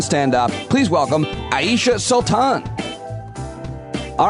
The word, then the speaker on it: Sultan: It's Sultan is how it's pronounced.